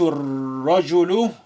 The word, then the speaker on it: الرجل: Ra is a sun letter carrying the shadda. Lam is silent. Alif is also silent. We link the first ra within the ra with shadda to the shu.